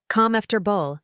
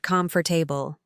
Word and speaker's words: comfortable: Two funny pronunciation fixes, comfortable, calm after bull, not calm for table.